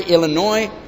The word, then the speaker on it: Illinois: did you ever wonder why Illinois has a s at the m and then we never say it always wondered about stuff